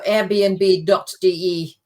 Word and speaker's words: Airbnb: Flats via Airbnb so airbnb.de I think that's the website and you would find it there as well okay and the pronunciation is Airbnb it's the English word Airbnb yeah okay all right